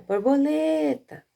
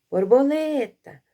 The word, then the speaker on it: borboleta: Você ia chamar em voz alta, borboleta, não é? De novo, ó, borboleta. Qual é a sílaba mais forte? É a sílaba lê.